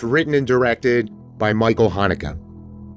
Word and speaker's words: Haneke: and directed by Michael Haneke, or at least that's the pronunciation I hear on the internet.